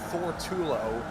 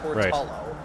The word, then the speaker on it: Torello: that it it was not as we called him Thor Tulo. It's a Torello.